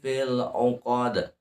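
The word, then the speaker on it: فِي ٱلْعُقَدِ: Naffatsati fil 'uqad. Filnya jangan dikokolahkan. Fil 'uqad. Jangan fil ya, fil 'uqad. Ujung lidah ke langit-langit atas. Fil 'uqad, jangan uqad.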